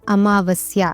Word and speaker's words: अमावस्या: जबकि सही शब्द होता है अमावस्या।